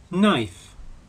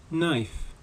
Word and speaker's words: knife: toast or in porridge knife knife note that the initial K in the word knife is silent the plural of knife